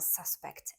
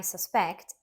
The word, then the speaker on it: suspect: the police have a suspect in the case a verb suspect stressed on the second syllable means to believe something is true or to think someone is guilty for example I suspect he knows more than